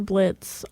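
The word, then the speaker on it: Blitzø: He doesn't go by Blitz O anymore. The O is silent.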